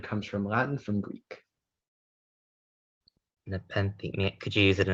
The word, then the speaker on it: nepenthe: Speller 17, your word is nepenthe.